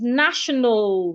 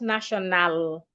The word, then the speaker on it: national: Another example of such word is national, not national. National. So when you have words ending in AL, remember, treat the A as a silent letter. Do not articulate it.